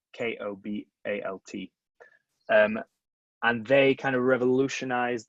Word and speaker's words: Kobalt: Cobalt spelled with a K, Kobalt.